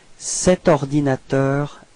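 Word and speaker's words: cet ordinateur: set all right so you pronounce it like set ordinator a share okay so actually no pose no break between the set and ordinator all right so let's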